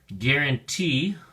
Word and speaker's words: guarantee: at your flash card guarantee has three syllables and the emphasis or stress is on the third syllable T so we say guarante guarantee it can be used either